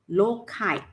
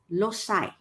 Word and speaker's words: loci: if plural we will write it as loci lokai in british uh english means a uk in